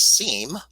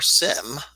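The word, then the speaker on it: SIEM: incident and event monitoring also known as seam or sim I've heard it pronounced both ways I pronounced it sim normally and I have colleagues who pronounce it seem well the important thing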